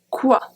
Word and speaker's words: quoi: And the last one, quoi, quoi, quoi, quoi. So you see in all of them, I never pronounce the U. Never.